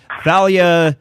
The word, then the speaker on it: Thalia: And so I was asking our call screener, I said she pronounces it Thalia because I have a hard time not saying Thalia because of the singer.